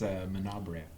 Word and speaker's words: Menabrea: I think it's Manabrea. Are you sure it's not Bray? I mean, there's an a at the end of that.